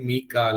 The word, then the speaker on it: மீக்கால: இல்ல யாவா இது என்னன்னு எடுத்துக்கிட்டாலும் சரி இது வந்து உச்சரிப்பு பார்த்தீங்கன்னா அரபில வாசிக்கும் போது மீக்கால அப்படின்னு தான் வரும் சோ மீக்காலன்னு சொல்லி நம்ம போட்டாச்சு